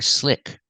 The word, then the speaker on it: slick: Slick. Pronunciation, use the short I sound like this is. Slick, slick. Open sound, I, slick.